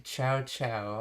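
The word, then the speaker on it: チャウチャウ: So, ciao ciao. Okay, this is the Japanese pronunciation, okay. Of the chow chow, okay, the dog breed.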